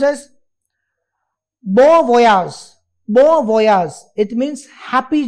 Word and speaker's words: bon voyage: It is pronounced as bon voyage.